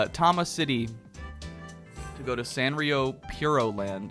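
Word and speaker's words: Sanrio Puroland: City to go to Sanrio Puro Land, is apparently how it's pronounced, because they're so pure.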